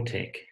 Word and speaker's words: LaTeX: X inlay tech or tech is pronounced as a hard cut as in tech it is not a soft X sound if you ain't pronounce